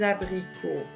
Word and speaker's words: abricots: un à grupo des abricots ici vous avez le s et on ne prononce pas le s des abricots vous avez la même